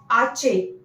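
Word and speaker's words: hache: Then H. H is ache. Ache. This is also the different.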